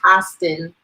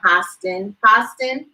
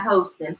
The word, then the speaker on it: Hostin: were reaching him and it's pronounced Hostin, like hostile, the sound. Gotta look out for our fearless lead. Come on, Hostin, not hosting, Host.